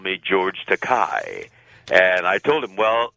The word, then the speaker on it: Takei: into English has expensive but my name is pronounced Takei and no producer likes to call an actor